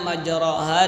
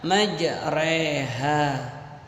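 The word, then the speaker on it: مجراها: Cuman mirsadan dan tirtosin sudah saya kasih tahu kemarin, dan juga sudah saya kasih tahu tentang bawahnya majraha dibaca majreha.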